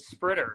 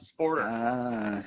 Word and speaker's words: SPRTER: Oh, I always pronounce it SPRTER, not SPORTER.